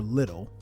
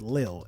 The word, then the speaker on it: lil: So, what I mean by that is you could either be big, you could be lil, cuz it's never little, it's lil, l i l.